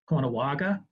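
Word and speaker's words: Caughnawaga: from fonda new york it's uh pronounced uh kono konawaga um and um archaeologists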